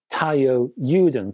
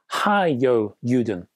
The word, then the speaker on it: Taiyo Yuden: Japanese brand named, well, it looks like Taiyo Yuden to my English eyes. Actually, it's pronounced Hiyo Yuden.